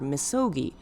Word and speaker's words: 禊: The way it's read sounds like the word misogi, which is a Shinto ritual of cleansing, one of the most important elements of the tradition.